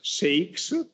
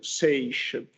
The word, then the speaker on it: seiche: Some pronunciations, some people pronounce the term as seix. I think the correct pronunciation is seiche or seichis.